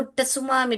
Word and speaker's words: tsunami: तो अभी उस टाइम में मुझे भी मालूम नहीं था सुनामी क्या होता है, तो हमने उसको सुनामी टी भी हमने साइलेंट नहीं पढ़ा था, एनसाइक्लोपीडिया था घर में, मैं रोज बच्चों के लिए पढ़ती थी।